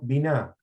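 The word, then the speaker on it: בינה: También existe una raíz hebrea que se pronuncia, biná.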